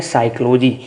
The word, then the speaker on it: psychology: रूप है वो है साइकोलॉजी। स्पेलिंग पी से स्टार्ट होती है, इसको बोला साइकोलॉजी जाता है क्योंकि पी साइलेंट रहता है।